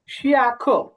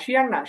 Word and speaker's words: 现: না শিয়াং না, শিয়েন, শিয়েন, শিএন। হ্যাঁ শিয়েন, 西 হ্যাঁ 恩在上 শিউশি, শিউশি।